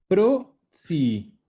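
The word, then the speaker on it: prozii: Y los tíos abuelos, Oh, pro-zi. Es como zi de tíos, pero es pro-zi.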